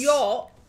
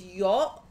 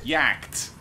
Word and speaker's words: yacht: Yacht, when you put the letters together, is yacht. She was trying to read it as something like how it's spelled. We had to be like, hey, no, that was actually read yacht.